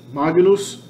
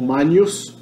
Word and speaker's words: magnus: Magnus, ou manius, a pronúncia que eu adoto, a pronúncia italiana.